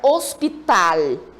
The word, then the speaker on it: hospital: Aqui a palavra hospital. Tal é a sílaba forte. Então, essa palavra é uma palavra aguda, que em português nós chamaríamos de quê mesmo?